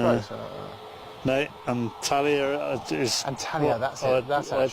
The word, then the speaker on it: Antalya: Antalya.